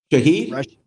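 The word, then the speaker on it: Shaheed: Rasheed Sherad, is that how you say his name? Shahed.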